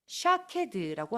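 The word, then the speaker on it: שקד: 놀라운 것은 히브리어로 아몬드를 샤케드라고 합니다. 오른쪽에서부터 푸프 달레트 문자가 보이지요. 히브리어로 지켜보다는 쇼케드라고 합니다. 똑같은 히브리어 문자들을 사용하고 발음만 조금 다를 뿐입니다.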